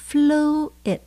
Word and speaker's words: fluid: Chúng ta nhấn âm đầu tiên nhé. Fluid.